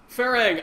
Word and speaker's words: Farhang: I'm the lead game designer of the game farang I am I I am so glad am